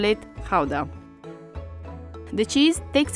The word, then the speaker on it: Gouda: Depending on whether you're a native, you will pronounce it either Gouda or Gouda. So since we're talking about authentic Dutch cheese, we're going to call it Gouda.